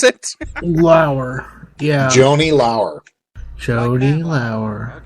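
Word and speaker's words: Laurer: It's not Lawler. It's Lauer. Can you pronounce it? Lauer. Yeah. Joni Lauer. Joni Lauer. Okay, yes, like Matt Lauer, not Lawler.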